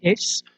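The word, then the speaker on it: Hermès: I think that's how you pronounce it. It's Hermes.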